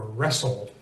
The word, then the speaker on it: wrestle: the W is silent one combination of letters that you can very easily count on the W being silent is w r especially WR at the beginnings of words right or ring or wrestle and it's a good